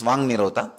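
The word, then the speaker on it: vāk nirodha: Vak Nirodha only, when you pronounce it becomes Vang Nirodha.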